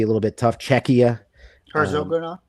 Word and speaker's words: Herzegovina: Herzegovina.